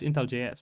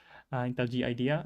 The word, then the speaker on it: IntelliJ: So if you are using to IntelliJ, how do I pronounce it even? Intel G idea, I guess. I know it's Intel JS, but apparently I'm completely wrong. It's Intel GS, Intel G idea.